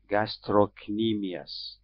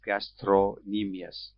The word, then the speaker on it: gastrocnemius: and we see a muscle that is called gastrocnemius and you see in the large letters the way it is pronounced gastro some people pronounce it as gastronemias but this is what is documented in the